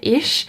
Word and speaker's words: ich: for my level like i was saying ich instead of ish and apparently that is